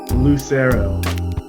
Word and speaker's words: Lucero: Lucero.